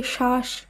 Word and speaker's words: শ্বাস: একইভাবে শ্বাস বা ধ্বনি এই শব্দগুলিরও প্রথম বর্ণে যে বফলা রয়েছে, যখন আমরা শুদ্ধভাবে উচ্চারণ করব সেখানে বফলা বাদ দিয়েই শব্দটিকে শুদ্ধ উচ্চারণ করতে হবে।